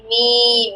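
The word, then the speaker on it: م: আচ্ছা, বা আর হচ্ছে মিম। মিমটা কোথা থেকে উচ্চারণ হবে? ঠোঁটের শুকনা জায়গা থেকে না ভিজা জায়গা থেকে? মিম। মিমটা হবে শুকনো শুকনা জায়গা। জায়গা এই তো। আর বাটা ঠোঁটের ভিজা জায়গা থেকে উচ্চারণ হবে বা।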